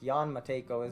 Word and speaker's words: Jan Matejko: He's looking to the stars from his tower, and here we can see Matejko, I think Jan Matejko is, I believe, how that will be pronounced.